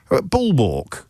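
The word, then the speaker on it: bulwark: Bullwalk. You know, bullwalk. B U L W A R K. Is that how you pronounce it? You don't pronounce it like a like a like a castrated male bovine.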